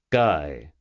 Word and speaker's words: Guy: "Guy," he said, "rhymes with high, or would you prefer to stick with the French pronunciation?"